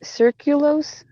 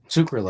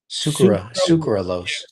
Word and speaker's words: sucralose: about a bunch of stuff and and it's circulos circulose or something like that. Sucralose. I went to go Yeah. How do you say it? Sucralose.